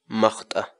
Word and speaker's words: maqt'a: serious videos where we teach you how to pronounce certain words in Quechua so our word of the day for today is mata Mata malta in English the Quechua word mata